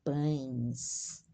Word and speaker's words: pães: O padeiro amassa os pães. O padeiro amassa os pães. A AES é a pronúncia AIS. Pães.